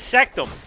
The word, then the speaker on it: Sectum: His name is Sectum. It's like Rectum.